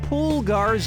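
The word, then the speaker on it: pulgar: give a film to poolgars up the can international one right answer coming up poolgar is how you say thumb in spanish yeah i do the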